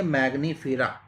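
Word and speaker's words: Mangifera: डाइकोटलीडोनेई, एंजियोस्पर्मेई, ठीक है, सेपेंडेलिस, एनाकार्डेशिया, और ये मैग्नीफेरा। ठीक है, मैंगनीफेरा, मैंगनी न का इसमें उच्चारण होगा एन की वजह से, ध्यान रखिएगा।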